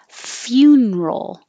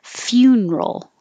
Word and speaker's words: funeral: options with this one you can say funeral it's like few i put that over here funeral or you can make it three syllables funeral and it might be